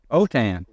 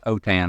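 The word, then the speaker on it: Autin: It is a French name, A-U-T-I-N. It sounds like it should be an A. Autain. It really is Autain. I say Autain.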